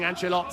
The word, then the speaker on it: Angelot: We get the definitive, the authentic pronunciation there of saying Angelot.